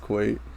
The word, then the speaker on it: Kuwait: kawaii quite sure kawaii i'm sorry kuwait it's pronounced kuwait put quite i'm pretty sure it's